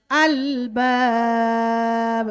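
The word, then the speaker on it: الألباب: Ulil alba al jangan dikolkolahkan, jangan ulil ale, tak ada ale ya. Albab.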